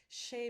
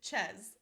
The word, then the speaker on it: chez: We would spell it S-H-A-Y instead of the French spelling, which is C-H-E-Z, because I want to make sure that nobody accidentally pronounces it ches.